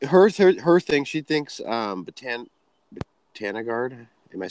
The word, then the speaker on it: BotaniGard: But so, like, her thing, she thinks Botanigard, am I saying it right? Yeah, Botanigard is one of the safest products out there,